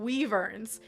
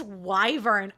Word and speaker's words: wyvern: with my best friend I was saying Weavers and she was like Mel it's wyvern I was like uh-uh